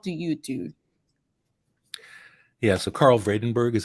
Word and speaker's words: Karel Vredenburg: to audience what do you do yeah so Carl vredenburg is how I pronounce that collection of letters uh for those